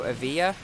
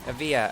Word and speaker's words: Evija: I said it right the first time so a via ok a via a via we got it I hopefully will